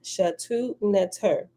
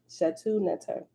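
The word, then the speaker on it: Shetaut Neter: They call this spiritual system Shatu Neter. Shatu Neter. And they spell it, the first Shatu Neter is SHTAUT, then it's space NTR. And in parentheses, it spell it out with vowels. SHETAUTNETER. They call it the spiritual system Shatu Neter, right? Shatu means secret. Neter means divinity, secret divinity.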